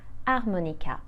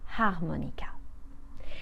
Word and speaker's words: harmonica: H we call silent when the H is silent you don't hear it at all and in front of